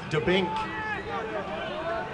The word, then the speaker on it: Dubnik: A very good effort by Brad Dubnik, one of your players to watch for the game. Here he is stepping the ball into the box. I believe that last name is pronounced Dubink.